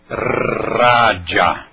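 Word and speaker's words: राजा: Pronuncia-se então com dentolingual, língua dental, a língua atrás dos dentes, e aí você pronuncia raja, raja.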